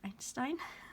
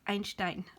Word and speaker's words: Einstein: Americans say Einstein, Albert Einstein. But I'm a German. I can't say Einstein. It's Einstein, Albert Einstein.